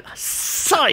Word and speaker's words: psych: I guess I'm psyched. I think it's because you hit the backspace key. So yeah. Look, when you're saying psych, we all know the P is silent, so we're just cutting the middleman at this point.